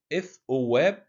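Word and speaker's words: ⲉⲑⲟⲩⲁⲃ: طب لو ما جاش قبله لا شاي ولا سيما بننطقه ث عادية زي حرف الث في العربي. زي كلمة إث أواب.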